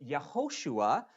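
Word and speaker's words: יהושע: And its central character, of course, is Joshua, or in Hebrew, pronounced Yehoshua. Kind of sounds like Jesus, doesn't it? They share that name together, a name which means Yahweh saves. Now, Yehoshua receives a very important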